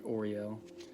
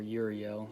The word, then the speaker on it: Uriel: raphael gabriel michael and oreo or uriel depending on how you pronounce it and then also metatron